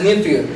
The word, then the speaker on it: nephew: Pero la pronunciación estándar es nephew, ¿de acuerdo?